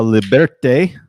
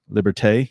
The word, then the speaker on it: Liberté: the night, Stella Artois Liberte, which I don't think that's how you say it. That's more Spanish. I don't know how you would say that in Liberté. Liberté. Yeah, that sounds more.